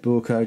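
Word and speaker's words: Böker: borers are fine uh if you're wondering why I'm pronouncing it bker just type in borker on the internet and you know listen to a German gu say it that is how you say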